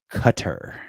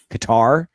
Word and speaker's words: Qatar: I' I've heard cutter, too, but it's gone by Qatar because I I feel like it's one of those things where it's like saying it wrong is what everyone calls it. Qatar. So, when you say it correctly, cutter, everyone's like where?